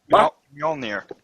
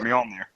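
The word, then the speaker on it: Mjölnir: Majorna, or whatever. How do you say it, Chris? Majorna, Manura, whatever. Mjolnir. That's how I say it, Mjolnir.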